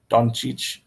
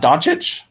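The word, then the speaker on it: Dončić: a trumpet to me Don Cheech it's not donchic everyone here says I mean a lot of people say doncic or donkicch and that they can't so we just say Luka doncic Don Cheech Chong I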